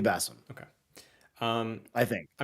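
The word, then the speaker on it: Basim: was muslim but like a middle eastern type of way of pronouncing it i think it will be bassem okay um i think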